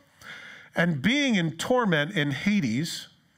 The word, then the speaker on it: Hades: being in torment in hades the real pronunciation is hedes but it's hades he lifted up his